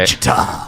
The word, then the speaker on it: Wichita: Wichita.